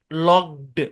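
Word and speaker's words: locked: তো আপনি যদি এটাকে ডি উচ্চারণ করতে যান, তাহলে দেখবেন কি কে আর কে নাই, লকড, মানে কে এটা না জি এর মতো সাউন্ড দিচ্ছে।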